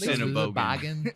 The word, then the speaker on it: Sennebogen: So well, it is Sennebogen.